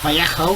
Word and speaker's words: Vallejo: I'm using Vallejo Interior Green, or Vallejo is the correct pronunciation, I believe, purely because it